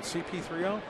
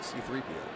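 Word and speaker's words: C-3PO: Was that other one CP3O? I think they pronounced it C3PO.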